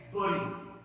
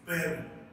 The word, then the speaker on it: bury: The second word is, it is also a common word and people say it bury, but actually it's bury.